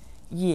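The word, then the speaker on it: 也: vocabulary in today's lesson yeah meaning also or to is said with a third tone listen ye yeah yeah yeah now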